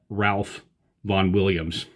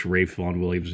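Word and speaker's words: Ralph Vaughan Williams: a folk song and it was adapted by Ralph Von Williams just kidding it's raai Von Williams I just pronounced um so for a while it wasn't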